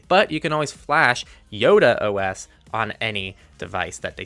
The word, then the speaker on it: IodeOS: duopoly and that's what eodo is trying to bring to the table yes people I embarrassingly called it eodo the entire review without bothering to look up that it's actually pronounced Yoda OS but if you just